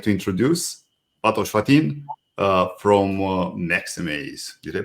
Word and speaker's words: Maxamaze: I'd like to introduce Fatos Fatin from Maxamaze. Did I pronounce Maxamaze correctly?